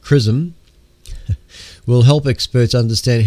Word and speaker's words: XRISM: evolution of the Universe X r i s m pronounced chrism will help experts understand